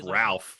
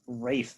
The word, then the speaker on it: Ralph: fines is that east ralph for sure no no it is it's spelled ralph you say rafe finds no you don't absolutely